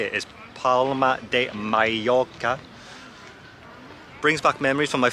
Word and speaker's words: Palma de Mallorca: Being back here, or I think the proper way to say it is Palma de Mallorca, brings back memories from my first contract now.